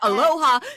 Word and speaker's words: aloha: grow up uh uh honor the culture and say aloha to this the same uh pronunciation or like the same emphasis that the Animaniacs say Hello Nurse helloha so you had a